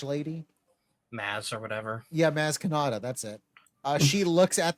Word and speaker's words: Maz Kanata: It's Maz Kanata.